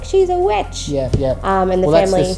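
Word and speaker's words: The VVitch: Is it pronounced witch or vitch? Vitch. I think the 2 V's was like something to sort of stand out a bit.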